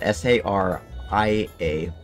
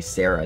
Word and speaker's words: Saria: annoys me is when people mispronounce zarya's name it's spelled s-a-r-i-a but whenever people say sarah is just like no it's not sarah there's